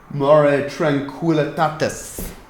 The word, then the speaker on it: Mare Tranquillitatis: tonight, Corey pronounces Lunar Maria. Hey, if you look, shut up. Yeah, it's Mare Tranquillitatis.